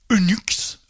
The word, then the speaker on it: Unix: Unix lui est multiplexé et la prononciation identique à unux. Unux en anglais.